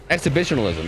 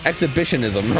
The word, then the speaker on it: exhibitionism: maybe he's into it exhibitionalism yeah exhibitionism I'm saying it wrong I'm put I'm putting an L in there that doesn't belong yeah that would be